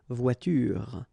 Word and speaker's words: voiture: The last thing that you will hear is this r, voiture, voiture. So it's not here, okay? So clearly you don't pronounce it here.